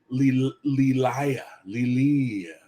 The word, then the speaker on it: Lilia: Lelia. There you go. How the fuck are you supposed to pronounce? That's stupid. It's Lilia.